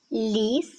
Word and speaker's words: ліс: В слові ліс звук ль вимовляється м'яко. Він м'який.